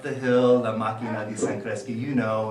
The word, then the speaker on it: San Cresci: And then ultimately he said, San Cresci.